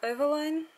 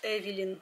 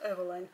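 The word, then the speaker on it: Eveline: Это Эвелайн. Ну, не знаю, кто-то пишет Эвелин. Мне кажется, произносится Эвелайн. Короче, Эвелайн Косметикс Варьете.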